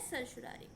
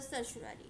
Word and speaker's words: certiorari: prohibition and ससुरारी देखो ससुरारी का हर किसी का अपना खुद का प्रोनंसिएशन है कोई इसको कुछ प्रोनंसिएशन करता है कोई कुछ करता है तो आप अपने हिसाब से इसको प्रोनाउंस कर सकते हैं मेरे हिसाब से सर सुरारी है हेबिस कॉर्पस सबसे पहले